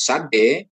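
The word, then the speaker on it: צ: Cara menulis sade. Pengucapan seperti Anda melafalkan notes ya. TS itu sade.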